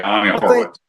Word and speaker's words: Ami Horowitz: Yeah, Ami Horowitz.